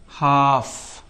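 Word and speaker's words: half: एफ एच ए एल एफ क्या दिख रहा है? हाफ साइलेंट है कि नहीं है? यानी एफ के पहले भी एल आता है तो एल साइलेंट होता है।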